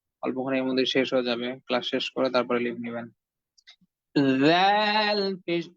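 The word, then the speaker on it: ذ: জাল পেশ জু, এই জু কি কম্পনের সহিত উচ্চারণ করতে হবে? জাল পেশ জু, হ্যাঁ। আপনি যখনই উচ্চারণ করবেন তখনই প্রথমে হালকা কম্পিত হবে, কম্পন হবে।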